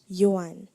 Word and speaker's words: yuan: Am I pronouncing the word correctly? Yuan.